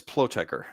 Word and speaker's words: Plotecher: Last name is Pleker.